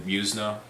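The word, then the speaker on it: Yuzna: And the director of Reanimator, Brian Usna, I think is how you say his name.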